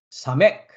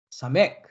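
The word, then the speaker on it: סמך: 다음 글자는 지주나 가시나무의 의미를 가지고 있는 사맥, 사맥, 사맥라는 글자이고 시옷 발음을 합니다.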